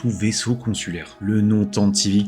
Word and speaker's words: Tantive: Le mot Tantive vient du terme anglais archaïque Tantivy, d'où la prononciation, un galop rapide, un cri de chasse à courre, le gibier poursuivi par le chasseur.